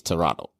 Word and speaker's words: Toronto: there it's like you you don't pronounce the t it's toronto toronto okay i didn't